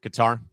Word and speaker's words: Qatar: I do feel like Qatar, I am pronouncing that right? Yeah, Qatar.